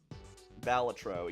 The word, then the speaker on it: Balatro: I can never remember how to pronounce it. Baltro? Balatro, yeah, this is it.